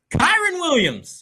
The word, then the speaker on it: Kyren Williams: How do you pronounce the name? Kyren Williams.